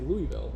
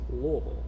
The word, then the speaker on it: Louisville: like that lville yeah so most people who are not local say Louisville or Louisville or something like that and when you're a local it's Lille Lille yeah so what we tell people is say it like you got too much bourbon in your mouth right lble Lille so